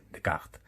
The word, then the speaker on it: Descartes: descartes bueno por supuesto la pronunciación la hago a la española será seguramente fermat y de cart bueno fermat y dio